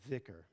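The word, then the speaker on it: zikr: the main spiritual practice it's called vicker spelled z-i-k-r pronounced with a kind of a strong th and it's meaning remembrance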